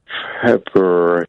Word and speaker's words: February: I pronounce the first of the two Rs. February.